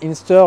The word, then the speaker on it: Inster: Ça s'écrit Inster. Bon, c'est pas Inster de bois, il faut vraiment dire Inster, la marque qui tient.